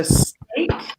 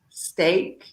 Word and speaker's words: steak: This is a stick. This is not steak, right? So we want to be careful with the pronunciation because we don't eat sticks. We eat steak, right? So careful there with the pronunciation. So steak, steak, steak.